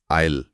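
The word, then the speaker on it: isle: अब दूसरे शब्द पर आते हैं आईल जिसकी स्पेलिंग है आईएसएल आईएसएल यहां भी स साइलेंट है और उच्चारण आईल ही है सही यह भी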